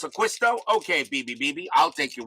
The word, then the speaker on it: D'Acquisto: that john de quisto it's not a keystone it's aquisto okay bbb i'll take